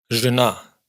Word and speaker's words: жена: Podríamos deducir que si estas sílabas están en posición átona, también deben neutralizarse. Y pues sí, es una deducción correctísima. Жираф, jirafa. Жена, esposa. Ж, suenan exactamente igual.